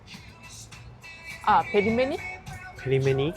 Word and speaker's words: pelmeni: Comment ça se prononce ? Pelmeni.